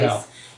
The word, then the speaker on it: Hallertau: Hallertau.